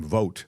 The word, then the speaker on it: Vought: This guy Russell it spell it looks like it would be Vought. I think he pronounces his last name Vote.